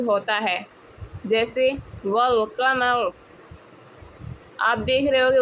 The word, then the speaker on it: والقمر: تلفظ ہوتا ہے، جیسے والقمر۔ آپ دیکھ رہے ہو کہ والقمر میں الف سائلنٹ ہے اور واو کو لام کے ساتھ مل کر پڑھا جا رہا ہے، والقمر۔ آپ کو پتہ لگ